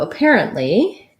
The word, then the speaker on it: apparently: apparently and zucchini um so apparently um is first syllable stress unstressed up then we have the air vowel apparent another schwa apparent st stop t and then lee apparently and zucchini this